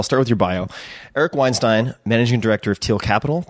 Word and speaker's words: Weinstein: Is it Weinstein Weinstein? How do you say your last name? I think it's Weinstein. Weinstein. I agree. That's the more Germanic way to go about it.